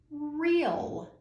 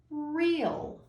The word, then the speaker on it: real: to you is pronounced real. Real. If you see in the middle, we have 2 vowels, E and A. We don't hear the A, we hear the long E, real.